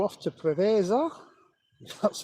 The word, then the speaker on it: Preveza: A Jet 2 off to Preveza.